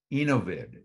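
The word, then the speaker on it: Enovid: what difference that makes innovid is um though I'm being told is the way to pronounce it e-n-o-v-i-d out of Israel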